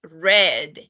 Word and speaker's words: read: past tense is came read as you can see is read same spelling in past tense but we pronounce it red in past tense and